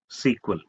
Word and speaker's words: SQL: is a or DBMS it is pronounced as sequel it is a standardized